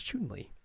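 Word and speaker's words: Chun-Li: does how to pronounce Chun Ley oh right that because they say her name in Japanese and they're like Chun Le I was like oh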